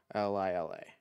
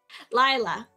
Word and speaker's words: Lila: How to pronounce L-I-L-A.